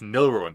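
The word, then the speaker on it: Gnilruin: And so my PSN name is my name with a G at the front, because the G just makes it silent. Nilruin. No, it's Nilruin. The G is silent, you idiot.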